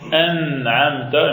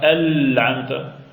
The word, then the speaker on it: an'amta: Bien dire par exemple an'amta et non pas al-amta.